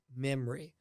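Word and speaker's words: Mimri: created an app called memory okay m-i-m-ri spelled like the way you say it memory no one says memory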